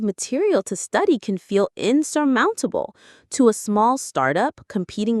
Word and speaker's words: insurmountable: Insurmountable. The stress is on the third syllable here.